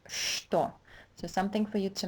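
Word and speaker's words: что: word is never pronounced store it's always pronounced store so something for you to memorize right away so in English this first sound would be equivalent to SH store Toyota just do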